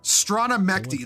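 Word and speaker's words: Strana Mechty: Strana-Mechty, that's how you pronounce that.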